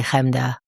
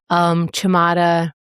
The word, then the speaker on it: Chemda: Chamada, Chamita, Churnda, Chemda, I understand. Kamda, Kamita, I said that already.